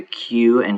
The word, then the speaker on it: Qin: Note that a Q in Chinese is pronounced CH.